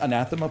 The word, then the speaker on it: anathema: better on that one when did you learn how to pronounce it I heard it on a podcast recently I went oh it's not antha we're close we're close